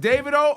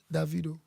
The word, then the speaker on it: Davido: different parts of Africa how do you say did you do David oh so with the accent yeah but with the accent makes it a video but the southern part of Africa said DeVito DeVito yeah so based